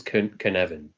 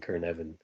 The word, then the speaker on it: Cynefin: means habitat um and the way I pronounce it is kavan like almost like a k r at the beginning kavan um so yeah um